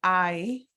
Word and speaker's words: hay: Está nublado, it is cloudy, or hay, like your eye on your face, but it means there are. So with clouds, let's go back here a minute. So the word hay is a verb. So hay is there is / there are. It's pronounced like I.